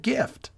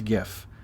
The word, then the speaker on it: GIF: present his case quote the word gift is the closest word to gif and it has a hard g to pronounce gif just say gift without the t what does he mean